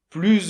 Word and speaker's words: plus: - Oui alors, avec la liaison ça complique un petit peu les choses parce que, effectivement, le mot "plus", c'est un mot qui fait la liaison.